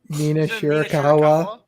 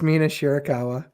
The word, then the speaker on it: Mina Shirakawa: First of all, pronounce her name right. Mina Shirakawa. It's Mina Shirakawa.